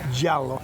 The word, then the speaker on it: giallo: So how do I pronounce the color of this car in Italian? It's giallo.